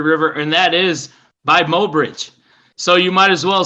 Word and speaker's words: Mobridge: mo bridge i love that nate is it pronounced mo bridge yes sir i just love that name i just yeah moe bridge i don't know what it is about it